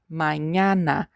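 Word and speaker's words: mañana: Now, this letter is very particular. We just have it in the Spanish alphabet. is called as you remember from the previous video and is very common in words like this manana. Mayana this means morning or tomorrow.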